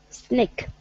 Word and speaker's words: sneak: So it's an E-E. Sneak. Sneak. Like in the word sneeze. It's the same sound.